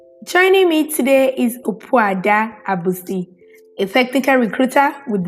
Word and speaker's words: Opuada: The pronunciation is Opuada, Opuada. Wada.